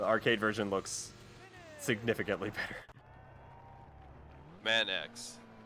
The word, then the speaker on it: Manx: Jack keeps saying you're pronouncing the name wrong. That should be Manx.